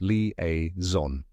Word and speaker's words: liaison: it correct pronunciation is leaon let's break it down step by step first part is Lee just like the name Lee next is a like